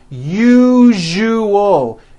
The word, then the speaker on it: usual: three syllables u o that second syllable Zu the one with the underline needs to be voiced put your hand on your throat and feel for the vibration in the second syllable uo now put it